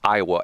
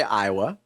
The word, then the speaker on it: Iowa: Iowa is four letters, but it's three syllables. Isn't that interesting? Yeah. I think most people say Iowa.